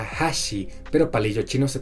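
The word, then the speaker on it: 橋: Por ejemplo, puente en japonés se pronuncia hashi, pero palillo chino se pronuncia hashi.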